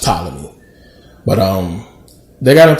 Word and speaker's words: Ptolemy: say pathology is just a thing but it's pronounced Ptolemy but um they got a to war and